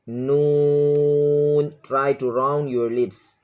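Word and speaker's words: نون: Pronouncing of this letter, you should round your lips. Noon.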